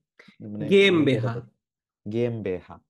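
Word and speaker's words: GmbH: এটা কি কিভাবে উচ্চারণ করে ভাই? মানে গেম বুঝতে বেহা। পারছি। গেম বেহা, ও আচ্ছা, এটা এই গে যে এম বে মানে হা।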